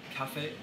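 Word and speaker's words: 咖啡: Cafe. Cafe is coffee, and you say it like you're singing it.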